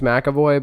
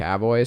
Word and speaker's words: McAvoy: seeing split with James macavoy directed by M Night Shaman it's James McAvoy but Tyler has uh decided it's going to be mavo so I really should